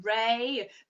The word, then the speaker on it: Re: I know it's spelt R-E, which is like re or ray, but it's Ra, okay? It's like Ra.